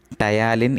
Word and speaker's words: ptyalin: And it having one more name, that is called ptyalin. What is ptyalin? Is the another name of salivary amylase, but it's not required, you can mention salivary amylase. Ptyalin spelling is PTY. P is silent actually.